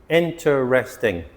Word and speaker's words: interesting: Interesting. Not four syllables, three syllables. Interesting.